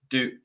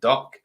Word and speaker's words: Duk: hear Joe's correct pronunciation that is Duke not duck um what did you